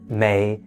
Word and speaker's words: 没: beautiful however there are differences between boo and Mei and they're not often used interchangeably so let's